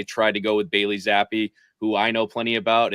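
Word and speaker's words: Zappe: playoffs just Z Bailey zappy zappy rhymes with crappy is that okay I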